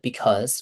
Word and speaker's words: because: Because one more time, Okay. Because, repeat. Because. Mhm. Also, try to pronounce the z as in like a bee.